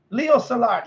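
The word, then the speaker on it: Leo Szilard: yes solar like the guys on my chat Leo Salat yes exactly yeah Leo salad so I finally figured out oh that's how you pronounce his names yeah so you know the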